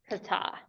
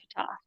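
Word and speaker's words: חטא: Kata. Kata. Emphasis on second syllable. Kata.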